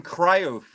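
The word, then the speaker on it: Cruyff: nobody else would either bro how about Johan cof how do you say his last name c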